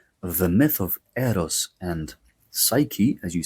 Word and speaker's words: Psyche: the human soul, the psyche. Psyche is how we say it in Greek. The ps is pronounced in Greek as ps. It's ps, ps, it's not s.